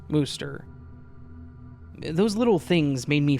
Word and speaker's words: Worcester: Apparently it's Worcester, Massachusetts here too, although even with the CH spelling in my old reality, it was still pronounced Worcester.